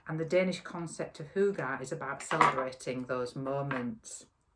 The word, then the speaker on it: hygge: if you've heard of the danish concept of hooga it's spelt differently to what it sounds um but it's about